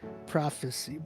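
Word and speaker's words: PROF3CY: So it's spelled with 3. So it's PROF3 CY. Prophecy.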